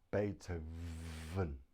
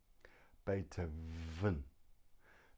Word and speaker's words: Beethoven: and not even then so we have the letter V pronounced but now you put your teeth on your bottom lip here on your bottom lip and breathe Beethoven Beethoven the V is made